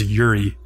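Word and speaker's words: 百合: So she produces a lily flower in her hand, pronounced in Japanese, by the way, as Yuri, and explains that lily flowers represent virtue.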